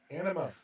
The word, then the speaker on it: Anima: you're saying it wrong. Anima. I said what I said. Enema. Anima? It is not Coffee? enema. It is anima.